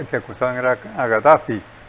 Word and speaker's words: Gaddafi: que acusaban era a Gaddafi. Yo digo Gaddafi porque al oír la pronunciación de los árabes, ojo, es como G. Ajá. Y los franceses le ponen una K con una H.